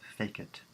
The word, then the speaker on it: facit: Make, it's pronounced fake it. That's how we're going to pronounce it from now on. Fake it, like make and fake it.